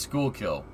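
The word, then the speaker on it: Schuylkill: goes over here interesting it's pronounced school kill thank you yeah see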